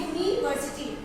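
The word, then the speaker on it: university: अगला है यूनिवर्सिटी, तो यूनिवर्सिटी में भी क्या आ रहा है, य आ रहा है, स्वर नहीं आ रहा है, लिखा यू है लेकिन उच्चारण में व्यंजन आ रहा है, तो हम यहाँ पे लिखेंगे ए।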